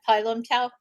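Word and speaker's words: Pai Lum Tao: woou, northern shaolin kung fu, and is it pylum tao kung fu? Is that how you say it? Yeah, pylum tao.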